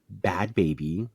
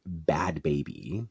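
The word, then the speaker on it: Bhad Bhabie: But if y'all know how to pronounce, it's not pronounced bad baby. It's bad baby. Like the hoodlm relaxed way to say her name.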